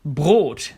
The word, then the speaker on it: Brot: middle of a word this letter sounds like the French in most German accents like BR meaning bread but at the end